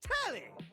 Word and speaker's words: Telly: The name's Telly rhymes with Nelly.